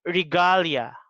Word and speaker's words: regalia: but for the word for this word rig regalia the the stresses in the second syllable okay another thing that